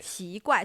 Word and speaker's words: 奇: It's not the CH sound from English, right? It's somewhere in between.